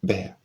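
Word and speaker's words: Bhaer: It isn't pronounced either beer or beer as people will say it, but something between the two as only Germans can give it.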